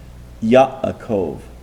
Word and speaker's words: Yaakov: Let me give you a case where you pronounce a letter that is silent. Yaakov. Okay, that hesitation, that is a silent letter being pronounced.